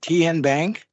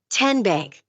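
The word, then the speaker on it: TN Bank: Tien Bank. Nope. Tin Bank. Uh-uh. So, what is it? Tenbank. 10 as in Tennessee.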